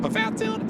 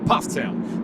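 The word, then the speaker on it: Pfafftown: from Ptown North Carolina it looks like paat toown it's pronounced Ptown so little education for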